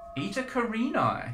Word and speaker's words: Eta Carinae: star called ITA karini ITA karini yes is that how it's pronounced that's how I pronounce it it is a